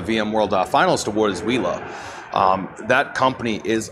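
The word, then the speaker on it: Uila: actually won the VM World finalist award is wheela um that company is is amazing from what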